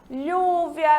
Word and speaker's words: lluvia: Já o LL, ele é pronunciado como se fosse LH, lluvia, rodilha, llorar, tá certo? Então, quando a gente tiver a junção de dois L's, a gente pronuncia como o LH de língua portuguesa.